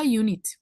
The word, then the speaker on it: unit: En inglés yo diría a unit. La U, generalmente, al igual que en universidad, suena como una Y.